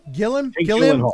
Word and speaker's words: Gilliam: Gilliam.